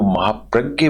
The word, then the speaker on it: महाप्रज्ञ: चलिए, इसको लिखने वाले आचार्य महाप्रज्ञ हैं, इन्होंने, इनको महाप्रज्ञ बोलते हैं, लेकिन स्पेलिंग इसी JNA होती है।